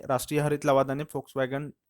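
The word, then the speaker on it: Volkswagen: आहे फोक्सवॅगन म्हणलेलं आहे जर तुम्ही त्याचं स्पेलिंग बघाल तर व्ही पासून होते पण जर्मन मध्ये वी च प्रोन्सिएशन जे असतं ते एफ होतं त्यामुळे ते फोकसगन आहे ओके फ बघा चिट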